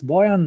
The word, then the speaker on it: Bojan: not so my first name is easy it's Boyan my last name is it's a bit more difficult so if you can't pronounce it don't worry about it I'm one